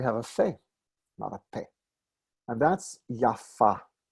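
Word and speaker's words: יפה: meaning as an adjective we pronounce it with the accent on the second syllable yaffa as a name we pronounce it yaffa which is how ashkenazim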